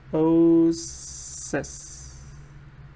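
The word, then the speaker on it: oasis: If you look at the pronunciation, it's osis. See, it's osis.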